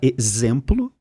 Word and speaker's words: exemplo: A palavra exemplo tem som de Z, mas se escreve com X.